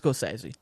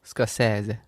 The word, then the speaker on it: Scorsese: Anyway, so and then we found footage from Martin Scorsese literally going, it's pronounced Scorsese. Scorsese.